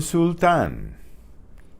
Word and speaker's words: sultán: El sultán. El sultán. El sultán. El sultán. There's an accent on the A. Sultán.